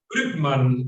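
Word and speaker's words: Brückmann: Brückman, es como, tienes que poner boca de U y de ser I, es como I, entonces Brückman, esa es la forma que es.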